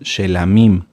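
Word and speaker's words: שְׁלָמִים: las ofrendas de shalom lo correcto es shamim shamim las ofrendas por el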